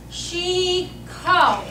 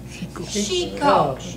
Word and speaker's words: XICO: here's the phonetic lesson, everybody. XICO, S-H-E-E-K-O. XICO, but it's spelled X-I-C-O.